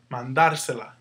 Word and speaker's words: mandársela: to sound the same, our accent is going to go where you hear the stress. Mandar. Because when you add all this other stuff, it just means... all you really have to know is how do you say this word without this stuff? Mandar. And wherever you hear the stress, that's where your accent goes.